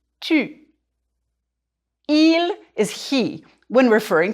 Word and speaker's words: tu: This is the U sound we worked on before. Tu.